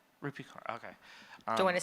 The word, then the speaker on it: Rupi Kaur: Rumi Kapoor? Oh, yes. Yeah. How do you say her name? Rupi Kaur, okay.